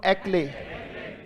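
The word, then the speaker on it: éclat: बोलो एक्ले, एक पढ़ लिया, और ले पढ़ना है और टी साइलेंट है। बोलो एक्ले, इसमें टी जोड़ दो। एक कैसे पढ़ोगे? EC। ले कैसे पढ़ोगे? और टी साइलेंट है, जोड़ दो। बोलो एक्ले।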